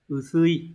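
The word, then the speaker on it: 薄い: Chữ bạc này sẽ được đọc là usui và chia ở dạng bổ nghĩa với động từ kiru sẽ là usu cự, đúng rồi.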